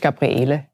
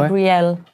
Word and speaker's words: Gabrielle: Gabrielle, französisch? Ist eigentlich im Englischen, also Deutsch Gabriele. Gabriele oder Gabrielle. Gabrielle, im Englischen sagen wir Gabrielle.